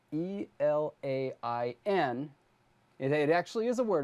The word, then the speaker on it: elain: And by the way, Ingsve, if you're watching, I hope you're laughing already, because the word that I'm thinking of that is spelled E-L-A-I-N It actually is a word.